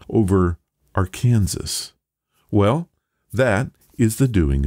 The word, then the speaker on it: Arkansas: the final s while arkansas stuck with the original french pronunciation which kept that final s silent that bit of knowledge